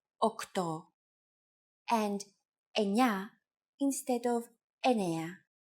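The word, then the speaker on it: οκτώ: Sometimes, though, especially in casual conversation, Greeks also use efta instead of epta, ochto instead of okto, and enea instead of enea.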